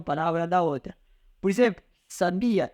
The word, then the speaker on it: sabia: Então nós temos aqui essa palavra muito morna, sabia, sabia. Essa aqui nós falamos que é uma sílaba átona, sabia, porque a intensidade não recai nenhuma delas.